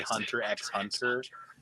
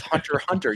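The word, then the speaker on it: Hunter × Hunter: Is the Is it bad enough that if I say Hunter X Hunter, I won't be corrected? No, it's Hunter Hunter. You don't pronounce it.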